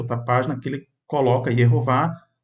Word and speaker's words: Yehová: Dando aí a pronúncia Yehová.